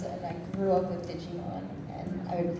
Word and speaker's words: Digimon: One, apparently I did not say Digimon the way one of my directors liked it.